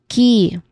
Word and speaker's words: key: Here, it is a long E vowel sound. So we say it as key. Again, key. And then findings.